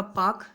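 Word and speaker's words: Palk: अगर आपसे खाड़ी पूछा जाए तो पाक की खाड़ी हो गया, ये एक अंग्रेज थे, उनका नाम था पाक, यल इसमें साइलेंट है, और ये हो गया आपका मन्नार की खाड़ी।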